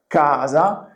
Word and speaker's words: casa: The word kaza in Italian language means house.